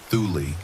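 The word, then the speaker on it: Thule: Thu, pronounced thuli like a secret you whisper into snow.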